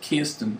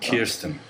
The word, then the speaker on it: Kirsten: But she is Scarlett Johansson, but Tom Wilkinson came on the show and he said, she is Kirsten. Kirsten.